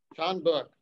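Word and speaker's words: 전북: this um keith will you unmute yourself and pronounce this university in south korea john book thank you sean buck university and has lectured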